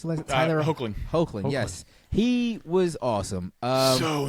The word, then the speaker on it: Hoechlin: How do we pronounce the last? Tyler Hoechlin.